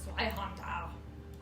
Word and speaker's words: Zweihander: Zweihander. That is Rebecca. Oh, I did misspell it actually. But hold on, this is. Zweihander. You just say like the Germans.